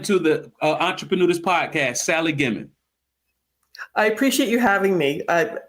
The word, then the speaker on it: Gimon: Is it Gimon? Yes, it is. You got it right. Most people want to make it French.